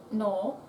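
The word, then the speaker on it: नौ: I thought of like the Spanish no. That's how I like how to say no in Spanish.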